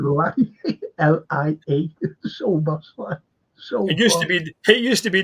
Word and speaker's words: Szoboszlai: And someone put up, it was great, he said, so boss lie. Yeah. If you know, so boss lie. Yeah, so boss lie. He said lie. L-I-A. So boss lie.